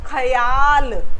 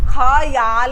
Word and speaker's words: ख्याल: मिलकर बोला जाएगा क्या ऐसे इसको खयाल हम खयाल नहीं बोलेंगे ख्याल ख ख्याल आया आपको